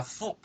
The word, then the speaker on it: foot: Para foot, que es pie, vamos a decir la U corta. Foot, foot, foot.